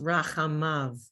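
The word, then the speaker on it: רַחֲמָיו: okay, Yud Vav is pronounced Av. Yud Vav Vav, is pronounced Rachamav. Yud Vav is pronounced Av at the end.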